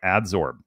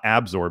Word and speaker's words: adsorb: He said it right, adsorb. It's not absorb, it's adsorb.